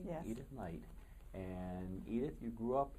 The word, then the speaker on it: Edith Knight: Did I pronounce that right? Yes. Edith Knight.